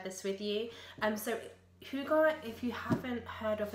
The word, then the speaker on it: hygge: year it's a Scandinavian concept and I was pronouncing it as higgy for quite some time until my husband who did a um Gap here in Denmark when he was 15 told me that it's actually hugar so yeah I was saying it for so